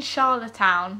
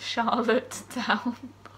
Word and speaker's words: Charlottetown: Do you mean Charlottetown, not Charlottetown? That's how it's spelled.